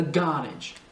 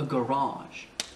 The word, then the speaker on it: garage: Donc en écossais, c'est sur la première syllabe. A garage. A garage.